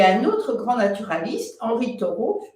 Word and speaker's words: Henri Thoreau: » Et puis, à peu près à la même époque, il y a un autre grand naturaliste, Henri Thoreau, je prononce à la française, Henri Thoreau, qui est l'auteur d'un